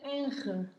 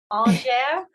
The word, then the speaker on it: Angers: unmute yourself if you want to try to pronounce the name of that city. Is it Enge? No. Sorry. No, but yeah. It's good to try. Good to try. Angers. No. Angers?